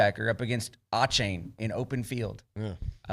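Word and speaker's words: Achane: I remember Bronny actually on the show going, I remember his name is Devon A-Chain is how it's pronounced.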